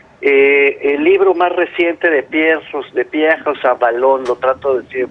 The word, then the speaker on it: Pierre Rosanvallon: está en curso, el libro más reciente de Pierre Rosanvallon, lo trato de decir en francés, bien Ajá. pronunciado, Pierre Rosanvallon, se llama El siglo del populismo.